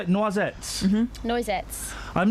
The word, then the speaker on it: Noisettes: Noisettes.